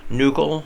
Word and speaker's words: nuchal: It is a CH. You'd think it's ch, but instead it's pronounced like a K. So nuchal lines.